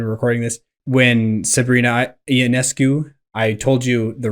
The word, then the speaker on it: Ionescu: don't know when we're recording this, when Sabrina Ionescu, I told you the wrong pronunciation when you asked me before. It's Ionescu? Yeah, Ionescu.